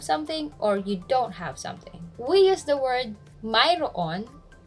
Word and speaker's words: mayroon: We use the word Mayroon. Sometimes it's spelled and pronounced as Mayroon or Meron, which means you have, he has, or something exists.